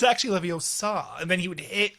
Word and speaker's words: Leviosa: this and he would like correct how he pronounced the spell too. He was like it's actually Leviosa and then he would hit like Peralta across you know.